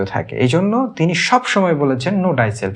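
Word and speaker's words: Know thyself: Socrates বলছে নো ডাইসেলফ। অনেকে এটাকে ইউরসেলফ নো ইউরসেলফ বলে উচ্চারণ করেন। কিন্তু আসলে এর উচ্চারণটা হবে নো ডাইসেলফ।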